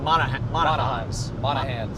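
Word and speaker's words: Monahans: TCA with another super chat saying not moan but man m o n. It rhymes with con. Okay. Okay. Thanks. But so it's monah. Monah hands.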